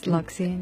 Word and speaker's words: Loxian: Now, you sing in Loxian, am I pronouncing that right? Yes, Loxian, yes.